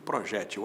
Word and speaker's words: projétil: mais projetil do que projétil. As duas formas existem. Projétil paroxítona, que termina em L, com acento no E da sílaba G. Projetil sem acento, oxítona.